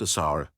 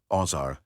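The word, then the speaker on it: Wsir: first among them was WJR pronounced assar yasar azer aeru ozar ozer weer user yuz or oer called Osiris by the Greeks historians Plutarch and deodor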